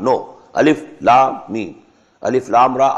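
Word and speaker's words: الم: Not pronounced as alif lam meem alam, no. Alif lam meem.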